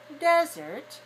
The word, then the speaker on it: desert: words are two syllables the first one desert is stressed on the first syllable and resort is stressed on the second syllable right now some people